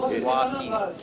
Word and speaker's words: Waki: That one's easy because it's two syllables. Waki.